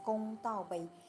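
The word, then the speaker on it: 公道杯: In Chinese, we pronounce as Gong Dao Bei.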